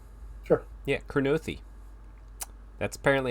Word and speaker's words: Kurnothi: Yeah, Kurnothi.